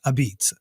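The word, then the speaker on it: apizza: neopol dialect and so it's spelled a p i z zaa but it's not a pizza it's a beat and so this is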